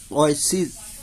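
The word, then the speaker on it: oasis: ना, आइसिस होते हैं, इसमें जो है ना अपना ए साइलेंट है, आइसिस, ओएसिस बोलना है इसे, नखलिस्तान जहाँ पे यानी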